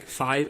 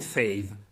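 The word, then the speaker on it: Faive: Uh because like uh other if you write it correctly like five f a i v e because a i in the middle right then you would basically pronounce it fave instead of five.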